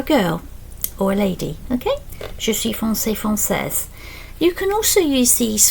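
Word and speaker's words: française: we'll see in a minute, and then you pronounce the s if you're from France for a man or a boy frances for a girl or a lady. Okay, frances.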